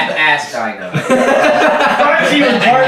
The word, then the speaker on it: Astyanax: Can we please stop mispronouncing Astyanax? Oh wait, the joke is dead? Astyanax. Well, I mean that joke. Astyanax.